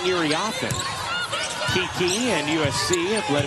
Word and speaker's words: Iriafen: why aren't they saying Iriafen? Kiki and USC have let it be known that really all these years it should have been pronounced with the emphasis on the fen rather than the off.